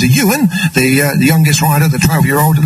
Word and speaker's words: Iwan: Ocean Jones, the number 5 rider, Dan, the elder brother, and Ewan, and don't be confused over the spelling of that, because it's I-W-A-N, Iwan, but it is pronounced as Ewan, the youngest rider, the 12-year-old.